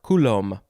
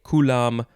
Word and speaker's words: Coulomb: charged particles next is coulomb's law or coulomb it probably depends on what language you speak and what part of the world you're in if you want to say kulam or coulomb this has a capital